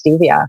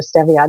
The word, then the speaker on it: stevia: natural sweetener around this stevia or stevia depending how you pronounce it so because that